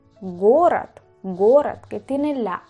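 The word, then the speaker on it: город: Vemos aquí leche o gorat. Gorat. Gorat, que tiene la a.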